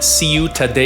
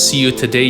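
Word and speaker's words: Ciutadella: got some music from see you today yeah from Barcelona Spain I believe that's how you say it it's CIU ta de l ll a so I would kind of figure it see you today yeah so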